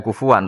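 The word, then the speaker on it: كُفُوًا: Itu ada 3 qiraah kufuan, kuf'an, kufu.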